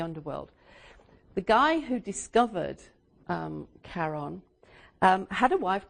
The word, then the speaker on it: Charon: the moon Charon but it must be pronounced Sharan after his wife so okay we get